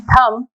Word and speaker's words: thumb: In thumb, we are not pronouncing B.